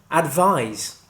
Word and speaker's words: advise: The noun is pronounced with an S sound at the end, advice, and the verb is pronounced with a Z sound at the end, advise.